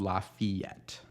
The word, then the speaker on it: Lafayette: in other places but a lot of times in St Louis you'll hear it called laf fette that one's a little